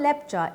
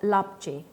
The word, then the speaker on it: Lepcha: The term Lepcha is a mispronunciation of Lapche, a name given to them by Nepali dwellers.